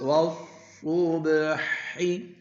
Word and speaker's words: والصبح: मोटा बना क़द्दमतु قدمت वस्सुबहि والصبح इसमें बच्चों ये अलिफ और लाम जो है ना वाव के बाद ये साइलेंट है वस्सुबहि والصبح यानी शाद वाले